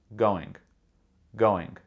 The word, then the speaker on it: going: The first G in the word going is really pronounced going, g-o-ing. But the second G is g. It's very light, very soft.